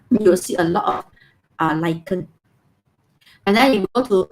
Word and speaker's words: lichen: So you pronounce this word as K, lichen. K sound, lichen.